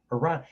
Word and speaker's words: Iran: It's not Italy, you're not Italian, it's Iran.